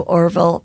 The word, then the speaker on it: Orville: happen that'll never happen so Orville rhymes with Harville and I I said